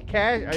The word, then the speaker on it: cache: it c-a-c-h-e cashe cash cash i i've always heard it pronounced cash but okay i feel like it